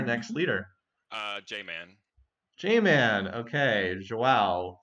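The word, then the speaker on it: João: Vision? Yeah, the j sound there. Oh. Yeah, it's yeah. It's the very much It's, so. you can say vision, you can say joao.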